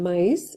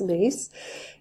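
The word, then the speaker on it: Myss: ago by Carolyn mace some people pronounce her last name mice but I heard her speak it as mace and she was talking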